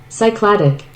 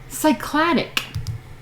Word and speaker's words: Cycladic: were saying read more and learn how to pronounce things. Luckily, we have things like Google nowadays. Cycladic. Cycladic.